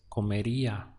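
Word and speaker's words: comería: and to that infinity if you're adding I a and the sound that you get is calm area notice that this is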